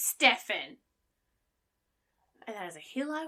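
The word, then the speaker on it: Stephen: really really irritates me Stevens who spell it with a pH makes us noun sound none of the sound so if your name is spelled s-t-e-p-h-e-n your name is Stefan that is a hill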